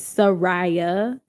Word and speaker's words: Saraya: My name is Saraya. Like there's 3 distinct syllables, but for my grandmother, Sarai.